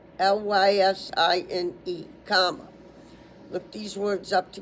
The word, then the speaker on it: lysine: Lysine. L Y S I like ice. N like nature. E like Edward. Lysine. L Y S I N E.